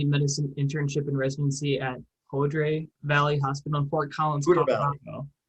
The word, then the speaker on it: Poudre Valley: You attended your family medicine internship and residency at Poudre Valley Hospital in Fort Collins, Colorado. What was that? Poudre Valley. We go with the local pronunciation.